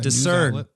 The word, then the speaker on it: DISRN: It's called Discern. It's spelled DISRN.